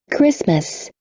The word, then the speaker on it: Christmas: E final também não pronuncia. Champagne. Termina em N. Champagne. chocolate, Chocolate. Chocolate. E final também não. Chocolate. Christmas, Christmas.